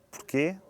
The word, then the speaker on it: porquê: Porque quando se diz porquê, escreve-se com acento circunflexo. Quando se diz porque, escreve-se sem acento. Já sabe pela própria pronúncia.